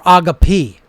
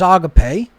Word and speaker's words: agape: again agape pronounced agape it's not agape or agapi right so thalema is spelled with that eta before the mu alpha